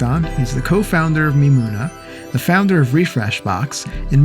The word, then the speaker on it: Mimoona: I'm not sure how to pronounce it correctly. It's that's Mimoona. Mimoona.